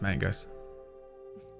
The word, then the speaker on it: magus: pronounced magus. Fucking, ugh. Ugh. Ugh. Sounds like maggots every time.